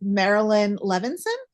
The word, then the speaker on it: Marilyn Levinson: asked before just to make sure I don't mispronounce it's Marilyn levenson yes correct um sometimes I like to check